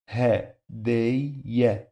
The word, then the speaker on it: هدية: This is the first syllable, ha, and then day, and then ya. Ha, day, ya.